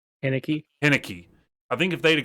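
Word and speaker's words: Heinicke: Henneke. I think if they'd have got to prepare the entire week with Henneke taking QB1 snaps instead of Fitzmagic, that could have played a difference. But Henneke played fine.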